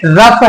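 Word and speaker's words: rough: वो शब्द क्या है रफ है इसमें जो है फा की आवाज आ जाती है बल्कि जीएस साइलेंट नहीं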